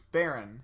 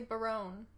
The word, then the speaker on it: Baron: It's Baron. Yeah. People say Barone.